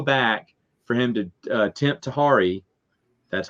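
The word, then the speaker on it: Tahiri: That was just a method to go back for him to tempt Tahari. That's how you pronounce her name.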